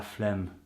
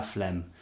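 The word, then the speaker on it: flemme: oh no no Sheila phlegm Sheila phlegm and it sounds weird because to us the word phlegm is something we get when we've got cold you know with all the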